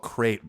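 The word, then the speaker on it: Qrates: Oh, it's called Crate, spelled with a Q. Q-Rates?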